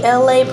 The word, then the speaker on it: Elay: It's me, Elay, pronounced like LA, like the city.